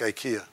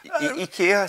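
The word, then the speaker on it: IKEA: out of places like IA which I learned tonight I pronounced wrongly but I know EA we we have our Scandinavian friends at e I've corrected Chris and I on this but you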